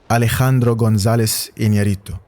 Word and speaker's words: Alejandro González Iñárritu: I like Alejandro González Iñárritu. I had to say it in in this Spanish accent because it makes no sense for me to say his name in a British accent.